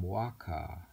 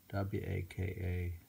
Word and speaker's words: waka: In this form, waka, W-A-K-A, waka, consisted of 31 syllables divided into 5 sections of 5-7, 5-7-7.